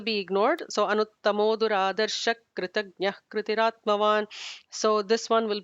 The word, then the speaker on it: कृतज्ञः: Duradarsha is ignore the visarga. Kritagnyah will be an H kind of sound.